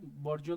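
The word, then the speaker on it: bourgeois: Proliferate, mushroom, augment, बॉर्जिया, है ना। अभी इसको बर्जिया पढ़ते हैं, फ्रेंच वर्ड है तो ऐसा ही उसका मीनिंग, मतलब प्रोनाउंसिएशन ऐसा ही है।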